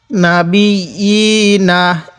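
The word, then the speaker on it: النَّبِيِّينَ: না বি, ইয়া খারাজের ই, নুন জবর না, না বি ই না। এই ইয়ার মধ্যে কয় আলিফ টান কে বলতে পারবেন? হ্যাঁ, ইয়ার মধ্যেও এক আলিফ টান। নাবি ই না, ওয়ায়াকতুলুনান নাবিয়িনা।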